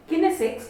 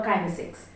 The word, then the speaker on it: kinesics: As I had mentioned last time, this time I would be talking about a topic called kinesics or kinesics. You'd hear it pronounced either way, and both are acceptable.